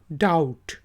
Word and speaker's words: doubt: फिर DOUBT, डाउट, डाउट। बी जो है साइलेंट है, बोला आवाज़ नहीं आएगी, सिर्फ DOUT की आवाज़ निकालेंगे, डाउट।